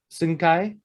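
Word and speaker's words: Hsin-Kai: pronounce uh asian gentleman h s i n dash k a i sing kai sentai yeah he's a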